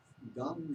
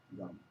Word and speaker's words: Gam: Gum, they say, is the sound which is specific for Ganesha. Gum. G-A-M, you would spell it. Gum. Sounds like chewing gum, maybe.